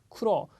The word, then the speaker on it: 苦労: 다음이 쿠로. 자, 앞에 쿠가 짧고요. 로가 발음이 깁니다. 이런 발음 주의해 주십시오.